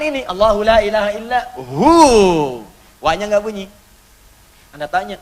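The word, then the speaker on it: هو: Hu, singkatan dari huwa. Hu itu singkatan dari huwa. Huwa begini. Karena kalau kita wakaf dalam bacaan huwa, wa-nya nggak dibaca. Bacanya hu. Contoh, Quran surah kedua, ayat 255, ayat kursi.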